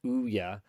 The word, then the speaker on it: Ouya: Opu Lance GT in Twitch chat says the Ouya pronounced it Ouya.